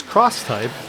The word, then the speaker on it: X-Type: came out with this cross type X-Type cross type is how they say it where it's a backpack